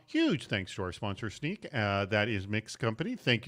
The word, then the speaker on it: Snyk: SSSNYK, but it's pronounced Snyk.